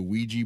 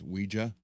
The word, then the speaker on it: Ouija: So, yeah, I want the Mummy guitar, and even though I don't do, a lot of people say the Ouija board, it's actually pronounced Ouija.